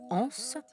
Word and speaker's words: Hans: Und sogar die Tatsache, dass sie den Vornamen Hans, auf Französisch ausgesprochen Anse, mit France, Frankreich, reimt, lässt man ihr durchgehen.